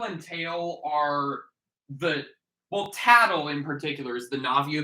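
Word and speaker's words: Tatl: has won today's so that's how her name's pronounced okay yes tattle and pale which you know yeah i get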